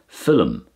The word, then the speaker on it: film: regular English for example I say this word here as film you can hear a double syllable there to me it will